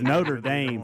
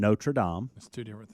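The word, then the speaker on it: Notre-Dame: And then I got to reading and they were like, "No, look, it's you pronounce it over there in Notradam." It's two different things. It's two different things and two different pronunciations no matter where you're at.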